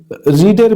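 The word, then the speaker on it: read: ইউ হ্যা দেখ রিডের ভিথ্র উচ্চারণ রেড। কিন্তু বানান একই।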